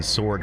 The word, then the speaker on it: sword: Ron says, I pronounce the W in sword forever. Sword.